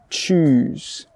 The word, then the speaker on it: choose: The sound in the middle, the vowel sound, is an oo sound, choose.